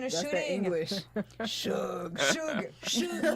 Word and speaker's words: Suge: Suge Knight. Short for sugar. Suge Knight, who was injured